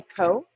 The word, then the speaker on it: Ceaux: I go by Co. Co. Yeah, and so I'm Adventures by Co, or Adventures with Co, and Co is spelled the New Orleans way of CEAUX.